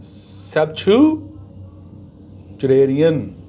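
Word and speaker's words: septuagenarian: Pronunciation क्या है? सेप्टुजेनेरियन।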